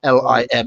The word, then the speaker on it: Lima: Al Snow was born in, I don't know if it's pronounced Lima or Lima in America. They certainly have lima beans, don't they, which is spelt that way, Lima, but it's Lima.